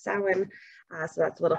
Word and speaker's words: Samhain: see it printed it's spelled samhain but it's pronounced salmon uh so that's a little fun fact for